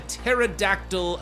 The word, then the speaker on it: pterodactyl: We're now going into pterodactyl attack. The P is silent.